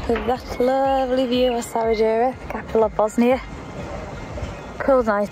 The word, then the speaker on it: Sarajevo: Made it into Sarajevo, as it's actually pronounced. I could call it Sarajevo.